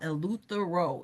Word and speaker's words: Eleuthera: Um listen, I'm talking about Eleuthera. If somebody could drop that in the chat. I'll spell it out. E L E U T H E R A O.